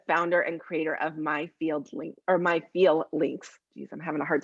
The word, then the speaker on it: FeelLinks: and creator of My FeelLinks. Geez, I'm having a hard time with the pronunciation of stuff today. it sounds like feelings, but it's feel links, right?